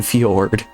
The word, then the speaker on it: fjord: The J is silent, like in Fjord.